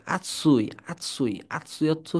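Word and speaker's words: あつい: তাহলে আসুই, আসু দেখেন, আসুই এরকম হবে না, আতসুই।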